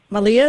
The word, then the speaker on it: Malia: i have somebody here uh marlea or malia malia is that how you say it oh yeah yeah yeah hi susan hi